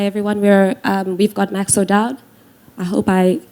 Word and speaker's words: Max O'Dowd: not to hi everyone we are we've got maxo Dodd I hope I pronounced your surname properly nailed it thank you